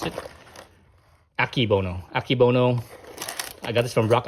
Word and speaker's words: Akebono: So I got some Akebono. I think that's how you pronounce it. Akebono.